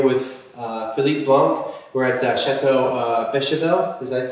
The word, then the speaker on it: Château Beychevelle: We're at Chateau Beychevelle. Is that pronounced correct?